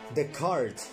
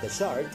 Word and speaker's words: Dechart: what let's have a look how does brian pronounces his own name let's find out the cart thank goodness that brian the cart the car not the shard because initially it was pronounced in the name